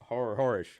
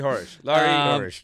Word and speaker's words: Horesh: His love for NFL or the sporting purist that is Horesh. Yeah, nailed that. Just put that up next to a big boo. Horesh. Just as long as the last H gets pronounced, we should be all right.